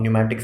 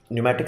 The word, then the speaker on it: pneumatic: understand why we use pneumatic system yes P is silent don't ask me why now pneumatic simply means one thing